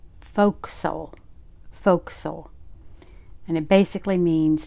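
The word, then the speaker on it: fo'c'sle: And it is pronounced folks.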